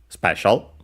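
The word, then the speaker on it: スペシャル: Then we have special, special. We check its accent as usual, accented, just like in English, so special.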